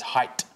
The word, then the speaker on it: height: There is no such word as height. There's no th on the end. It's height with just a T.